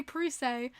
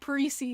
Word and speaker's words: Parise: to fix i used to say parise and then i'm i'm going home listening to islanders radio network and he goes hi this is zach parisi and i'm like oh i've been saying his name wrong i felt so bad